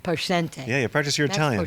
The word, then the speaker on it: Poscente: And I'm going to say his name wrong again because I say Max Plantante, but it's Poentiente. Poente.